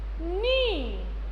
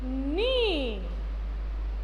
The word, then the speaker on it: knee: This portion is called, what you know, this is called, this portion it is called knee. We don't pronounce the K, only we say knee. K N double E, knee.